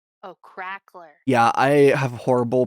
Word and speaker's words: crackler: cackler with a C or is it uh it's spelled sand CR a c k l e r oh crackler yeah I have horrible pronunciation issue no no it's totally I keep I keep saying cackler and it's supposed to be crackler uh Nix